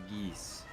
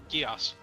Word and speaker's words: Geas: Geese. Gios. I usually say chaos, but it is just gear with one letter replaced.